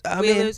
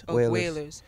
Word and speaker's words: Wailers: Wailers, I'm saying it wrong. Wailers.